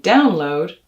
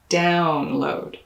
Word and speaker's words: download: of the word stuff in download you'll also stress the first syllable but it'll be that ow diphthong notice how the corners of my lip move ow download like in the word mouth download vowel sounds are the